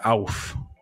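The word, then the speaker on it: Ouphe: word for me uh there are two pronunciations there's oof and auf um meaning goblin or elf like creature uh i'm gonna play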